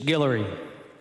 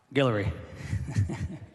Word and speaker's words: Guillory: Bishop Guillory, I said it right, Guillory.